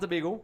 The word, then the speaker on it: Tobago: And, to my American and Spanish-speaking friends, it's Tobago. But I could understand why you say Tobago if you don't, that's how we say it. But direct pronunciation is Tobago.